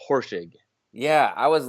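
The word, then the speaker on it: Horschig: want to mess it up really tough it's horsing yeah I was like I was looking at that adding syllables and stuff horse horse horse shake we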